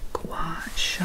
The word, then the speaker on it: gua sha: and find out yeah pronounced gua sha i was right okay benefits and use